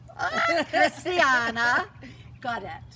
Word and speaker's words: Christiana Gaudet: Christiana Godet.